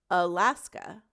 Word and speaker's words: Alaska: Schwa is a lazy sound that we say in English, So think of the word Alaska. Las-ka. At the end and at the beginning.